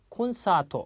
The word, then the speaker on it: コンサート: 콘사토 그렇습니다. 자, 콘사토 사가 깁니다. 장음 콘서트라는 의미고요.